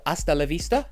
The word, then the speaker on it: Hasta la vista: the song is called hasta LaVista it is a Spanish expression so the H is silent and it's presented well